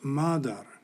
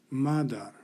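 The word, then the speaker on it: مادر: like pitter is mitter the persian or farsi word has a long a and is pronounced madar madar and then finally the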